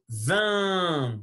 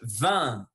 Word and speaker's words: vin: Le vin, c'est pas le vin, sinon le vin. Il faut tirer le lèvre et faire sortir l'air par le nez. Le vin.